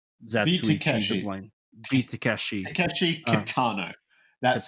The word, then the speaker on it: Takeshi Kitano: Takeshi Kitano.